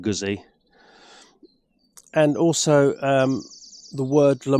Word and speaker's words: Guzzi: Moto Guzzi Le Mans should really be pronounced Moto Guzzi, because a ZZ in Italian is a T, a bit like pizza. But because I'm lazy, I'll probably carry on saying Guzzi.